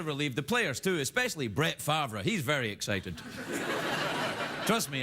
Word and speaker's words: Brett Favre: The rumors that Brett Favre may, I should say it properly, Brett Favre, that he may unretire and play for the